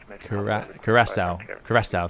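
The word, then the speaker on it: Curaçao: Don't pronounce Cracker wrong and get the controller. It's Curacao.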